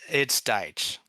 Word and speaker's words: Deitch: I've kind of been going back and forth between Deitch and Deitch. Okay, so it's Deitch.